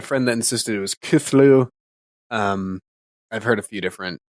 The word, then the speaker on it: Cthulhu: Technically we all say Cthulhu wrong.